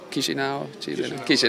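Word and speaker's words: Chișinău: Chisinau.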